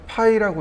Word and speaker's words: ø: 도면에 R자가 붙어 있는 경우가 있고, 그 다음에 얘를 뭐라고 읽냐면 파이라고 있습니다.